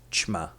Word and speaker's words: ćma: This letter is pronounced as ch, and it sounds like the C and H in the word champion.